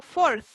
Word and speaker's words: fourth: Usted junta los dientes, ¿cierto? Y como que la lengua sale entre medio de los dientes.